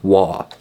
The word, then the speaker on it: Waugh: Now, it looks like his name is spelled Waugh, because it has a GH at the end, right? Evelyn Waugh. But no, it's apparently pronounced Waugh. Silent GH at the end there.